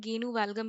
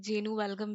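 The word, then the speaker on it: genu valgum: नोकनी को हम बोलते हैं गेनू वल्लगम भी बोलते हैं। और यू can pronounce it like जेनू वेलगम भी।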